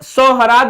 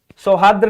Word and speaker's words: सौहार्द: यह सोहराद लिखा हुआ है। सोहराद यह भी गलत हो गया। यह सौहार्द्र लिखा हुआ है। सौहार्द्र मैंने क्या बोला? सौहार्द। सौहार्द्र नहीं सौहार्द।